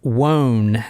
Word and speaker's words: Wone: it's the one with Robert Wan is w o n e and from other newscast and stuff I heard that's how they pronounce it so w is the